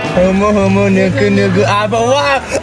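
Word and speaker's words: humuhumunukunukuāpuaʻa: Humu humu nuku nuku apa wa.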